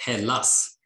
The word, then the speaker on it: Hallas: Ghost Cult Magazine welcomes in Marcus from Hallas. I hope I said that correctly. Thank you. Yeah, you can say however you want. We say Hallas.